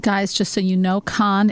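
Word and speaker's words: Kahn: just so you know con is spelled ke a H n okay so anyway I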